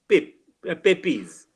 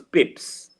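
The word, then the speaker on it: Pepys: English literature so we we are used to calling him pipis but when I went to England England I found that it was not papis it was Pips so I I was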